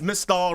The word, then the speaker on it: Mystal: It's Mistall rhymes with Crystalall.